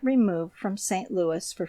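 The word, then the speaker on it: St. Louis: the citizens give it the old French pronunciation that is St Louis the final s not being sounded it should be so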